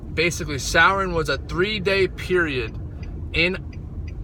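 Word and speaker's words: Samhain: there's a three-day period it's called something like Sauron I know Sauron is the Karen from Lord of the Rings it's spelled sa MH a Rin or something like that but it's called like sour and I think it's sour and it's how they say it basically Souren was a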